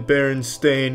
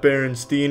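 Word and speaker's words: Berenstain: It's always been Baron Stain, not Baronstein. Everyone, every everyone, every they all want to pronounce it. But it's Stain. Ever since I was a kid, they call me. It's Stain, though.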